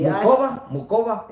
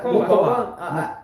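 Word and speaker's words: Muchová: and unfortunately, Mukova. yeah, Muhova. yeah, Muhova is how you say it.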